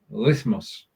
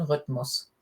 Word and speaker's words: Rhythmus: Halte deine Arme und Beine in einem gleichmäßigen Rhythmus. You thought I was going to get rhythmus wrong there, didn't you? You remembered it was a German spelling or German pronunciation?